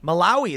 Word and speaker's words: Malawi: Malawi. There you go. See, I couldn't even pronounce that one.